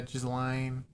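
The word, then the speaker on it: Ghislaine: Gizlane. Gizlane. Gizlane. Gain. I can't say that. The S is silent.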